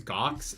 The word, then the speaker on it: Gawx: His name's Gox. It's spelled Gawx because Brandon Sanderson hates me.